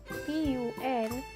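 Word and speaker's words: ぷん: 3 4 6 8 and 10 which are pronounced as spoon p-u-n and the rest are pronounced a spoon f-u-n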